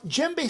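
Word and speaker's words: djembe: called a gembe drum now gembe starts with the letter d it is spelled d j e m b e actually you know what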